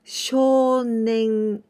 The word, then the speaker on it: 少年: With this combination, we say 少年.